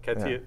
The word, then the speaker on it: Catire: So that's how you pronounce it, Catire.